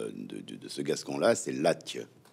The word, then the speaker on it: Latche: Donc en fait, si on doit prononcer exactement en respectant la prononciation de ce Gascon-là, c'est Latch. Latch. Latch. En atténuant en plus la finale.